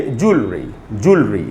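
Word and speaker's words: jewellery: उच्चारण क्या होगा उच्चारण जल के बाद थोड़ा सा आधा साउंड लगाएंगे और बोलेंगे जल रे| ये इसका उच्चारण तो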